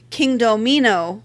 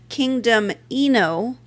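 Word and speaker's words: Kingdomino: I started off saying King Domino, which I've been told is how Bruno Cathala pronounces it. I have yet to actually find a recording of him saying it. I have also heard others say it as Kingdom Eno, but I kind of figure it's like potato.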